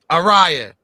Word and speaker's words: Araya: You say her name is Araya? Araya. Like Mariah, but Araya.